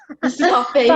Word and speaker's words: Solfeggio: How do you pronounce it again? Solfeggio.